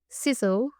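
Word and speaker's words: Sissel: And then we have Sizzle from Norway. And I know I'm pronouncing that right because she told me how to pronounce it. She said it's sizzling like fire, which I really appreciated.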